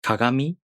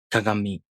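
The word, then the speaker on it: かがみ: Depending on regions and generations, some Japanese people pronounce ga, gi, gu, ge, go as the voiced velar nasal sound. For example, some people pronounce kagami as kagami.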